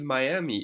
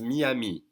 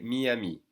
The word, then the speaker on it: Miami: they sound for instance the city of Miami is going to be pronounced Miami okay Miami and if you say Miami a lot of French